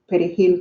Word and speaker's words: perejil: was dark skinned and couldn't pronounce the word perejil correctly because they don't have that, they don't pronounce the R's the same like they do in Spanish, they would be killed.